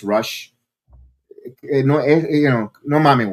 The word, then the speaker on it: Rush: So they were chanting rouch rou rouch. And by the way, it's rush.